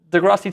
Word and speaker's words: deGrasse: Is it silent? No. Oh, it's just grass.